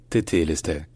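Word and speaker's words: τετέλεσται: que connaissait Jean, l'évangéliste, ça se disait plutôt tétélestai, tétélestai. Donc comme vous l'avez entendu, le taille à la fin était devenu té. Et finalement, c'est quand même plus ou moins la prononciation qu'on trouve en grec actuel, en grec moderne.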